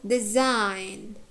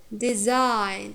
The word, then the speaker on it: design: Or design, design. It has diphthong.